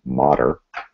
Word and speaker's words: Mader: And again, for those learning the pronunciation, it's Mader.